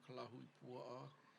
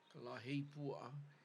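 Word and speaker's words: Kalahuipua'a: know, which you know there's different names, different ways to pronounce this name of this area, you know, Kalahui Pua'a, Kalahei Pua'a, which is what he mentioned,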